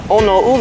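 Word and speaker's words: Oneuli: black sand beach uh onole I believe it's pronounced my Hawaiian isn't so good literally translates to black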